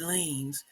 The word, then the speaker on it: Lanez: Rapper Tory Lanez, or they used to call him Lanez until someone like, I think you pronounce it Lanes.